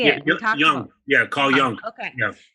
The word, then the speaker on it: Jung: Jung.